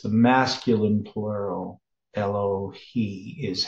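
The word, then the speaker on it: אֱלֹהֵי: Yeah, so it's the masculine plural, Elohi is how it's pronounced here.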